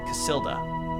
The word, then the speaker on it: Casilda: from C from C casilda that's how you pronounce that with trembling hands she